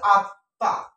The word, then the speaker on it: আত্মা: করি এটা হচ্ছে আত্মা জানি ম ফলা মাঝে বা শেষে কোন বর্ণের সাথে যুক্ত থাকলে সে কষেত্রে যে বর্ণের সাথে যুক্ত থাকে সে বর্ণটা দুইবার উচ্চারিত হবে সে কষেত্রে এখানে সঠিক উচ্চারণ হয়েছে আতা আত আমি এটা হচ্ছে আত এটা হচ্ছে বধাক্ষর অর্থাৎ থেমে যা বেশি এজন্য আত অর্থাৎ এইযে মটা যুক্ত ছিল ত সাথে দুটো হয়ে গেল আতটা হচ্ছে মুক্ত অক্ষর এখানে একটা বিষয়